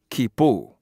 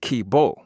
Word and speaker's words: Kibo: one particular peak that the chaga people call khipu khipu but when the white folks got ahold of it they called it Kibo kib Oh whereas our pronunciation was more in line with ki p oh oh you're staying so